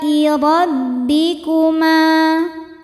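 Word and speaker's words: رَبِّكُمَا: Alai rabbikuma. Ro dibaca tafkhim karena berharokat fathah. Cara bacanya ditebalkan. Rabbikuma. Ma hukumnya mad tabi'i dhahiri sebab ada alif didahului harokat fathah. Cara bacanya panjang 2 harokat.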